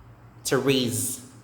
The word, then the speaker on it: Therese: to raise to raise silent h and silent final letter e is also silent the s is z therese therese this one olive a